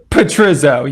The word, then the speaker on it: Petrizzo: I can't even pronounce this here. But please welcome, what's your last name, baby? Petrizzo.